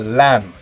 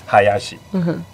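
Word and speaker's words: 林: family name hayashi or lamb or lin he asked me because the same character in Japan I pronounce Hayashi in Hong Kong pronounce Lam in Mandarin it's pronounced Ling then that's the moment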